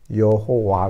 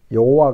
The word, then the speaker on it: 여호와: 호호 와 야 우와 이게 이제 이 발음이 돼서 이어 호화 가 되는 거죠 요거 원래는 야훼 라는 모음 인데 아도나이 자음이 내아 야외 라는 자음 인데 아도나이 에 모음이 합해져서 여호와 가 되는 겁니다 그러니까 오늘 우리들은 요와